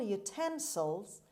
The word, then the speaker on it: utensil: word number 10 utensil utensil utensil as you see a stress is on t sound means container or tool